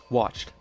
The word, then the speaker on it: watched: here first of all the D is stupid because we pronounce it like a t we don't say watch du it's watch t watched with the T sound